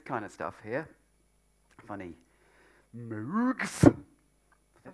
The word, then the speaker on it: Moog: Moogs. Is that right? Armstrong. How do you pronounce it? Moog. Like Moog. Moog. Yeah. Like in Rogue. Rogue. Rogue, yes. With an M. Yes. Yeah, Rogue with an M.